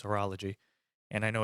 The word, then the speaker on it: horology: couple of comments of people saying that I mispronounce things, but I know it's not horology, it's horology, and I know it's not a horologist, it's a horologist.